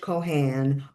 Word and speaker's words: Cohan: knew that, names like Ferran, Moran, Haran, that's how they're pronounced.